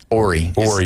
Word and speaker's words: Horry: Robert Horry? Horry. It's silent. Yeah. H is silent.